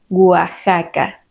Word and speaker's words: Oaxaca: Tuxpan Atlixco Texcoco y algunos topónimos que no siguen esta regla Ya que se pronuncian con el sonido de la J son México Texas Oaxaca recuerdas que los españoles